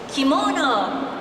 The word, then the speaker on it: kimono: is called in Japanese kimono. Kimono is okay too. It is English. In Japanese, its pronunciation is more flat.